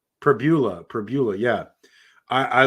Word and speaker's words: Pribula: It was it's Pribula.